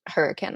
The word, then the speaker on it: Hurricane: I'm in southern Utah in hurricane. It's like written hurricane, but it's pronounced hurricane, I learned.